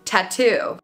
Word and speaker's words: tattoo: true tea is tattoo we have two true T sounds two true T sounds okay it starts with a t t and then two tattoo so tattoo is a great word